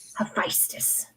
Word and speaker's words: Hephaestus: How do you pronounce it again? Hephaestus.